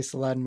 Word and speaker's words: Saladin: talk about uh Saladin I'm GNA say Saladin because that's my West Virginia upbringing that was how we were we were taught to say his name it's all right that one guy at the dinner table will correct you yeah but uh soladin or or they give his full title of salahadin how do you feel